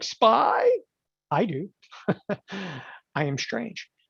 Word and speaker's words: SPY: Okay, we're going to type in spider. Everybody familiar with the spider? SPY. You're like, what is SPY? It's SPY. It's a spider. It's the S&P 500. Okay, do you have to say it like SPY?